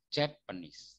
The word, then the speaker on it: Japanese: Kalau ini yang ditekan suku kata pertama. Bacanya jadi Japanese.